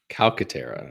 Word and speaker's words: Calcaterra: Calcaterra. That's hard. Two hard C's.